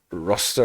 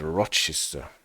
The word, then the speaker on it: Rochester: to feverishim and to Rochester Rochester I think it is I actually tried to look it up how it is pronounced and it is not pronounced roster or something like this but Rochester at least if Wikipedia